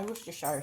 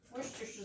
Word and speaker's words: Worcestershire: I love this stuff because nobody knows how to pronounce it. I call it Worcestershire, but if I look at it the way it's spelled, it's Worcestershire. So, but I don't think that's really the right name.